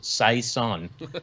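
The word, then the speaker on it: Cézanne: at you for the mispronunciation of cezanne so i'm on i'm on team dude men so i i just wanted to jump in with that well i'm glad you corrected me because this is like the 10th or 15th say sun that we've drank and i've been mispronouncing them every time and no one said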